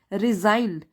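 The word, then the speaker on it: resigned: his post immediate तुरंत रिजाइंड इसमें जी silent है रिजाइन का मतलब है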